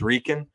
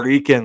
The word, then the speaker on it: Ripken: And I know the second baseman, he's laughing, and he can't pronounce the P in Ripken. It's Ripken. He's like, oh, Ripken, like, Poppy, you okay?